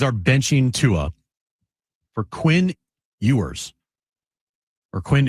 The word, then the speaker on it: Ewers: The Dolphins are benching Tua for Quinn Ewers. Or Quinn Ewers. I don't even know how to say his name. You're right the first time. Quinn Ewers.